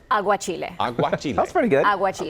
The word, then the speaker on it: aguachile: Aguachile? Aguachile.